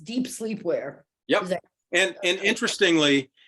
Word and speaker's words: Dep Slepwear: But whatever, it's pronounced deep sleepwear.